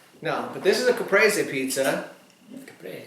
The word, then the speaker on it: Caprese: But it's Caprese.